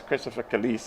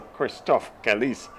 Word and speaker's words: Christophe Caliste: That's Christopher Caliste, or Christophe Caliste, properly pronounced.